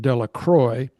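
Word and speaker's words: Delacroix: The villagers pronounced this name Delacroy eventually made a great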